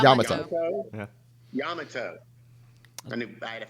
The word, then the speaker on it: Yamato: going to say it what I think is wrong which is probably the right way to say it Yamoto ah yeah Yamato a new I had